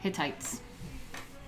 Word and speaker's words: Hittites: Pronounce Hittites. Oh, thank you. Hittites.